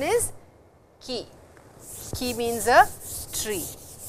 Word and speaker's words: 木: The pronunciation is ki.